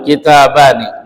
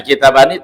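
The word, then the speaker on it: كتابانِ: Contohnya misalkan ee kitabun kitabani. Nah, kitabani tasniah bacanya kitaba ni ni kasrah ya. kita bain ni ni kasrah. Jadi kalau nun tasniah di harakatnya kasrah itulah yang banyak dibaca oleh orang-orang Arab.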